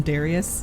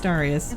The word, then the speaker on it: Darius: It's what is it like the our friend Darius, everyone wanted to call him Darius, and he's like, no, it's Darius.